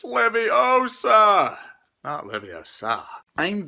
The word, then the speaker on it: Leviosa: Potter what are you doing well ten points from Gryffindor uh yeah yeah you're saying it wrong it's Leviosa uh yes uh I